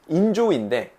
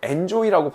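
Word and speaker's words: enjoy: 그래서 여러분들이 아까 어려워했던 그런 라포라는 발음이라든지 인조이인데 엔조이라고 발음하는 그런 위험한 분들도 있단 말이죠.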